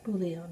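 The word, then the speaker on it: bouillon: I bought this chicken booon I think it's Bion that's how you say it and it was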